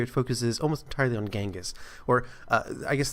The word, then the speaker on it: Genghis: focuses almost entirely on genghis or i guess the more proper pronunciation and the more modern pronunciation or the interpretation of the pronunciation will be chingus but we're gonna go